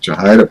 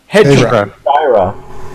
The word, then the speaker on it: Hejira: Well, it's 2 syllables. Who's got the album? Hejira. Hejira. But then I heard Joni say Hejira. Joni lies once again. She's wrong. But Jamie, I say Hejira.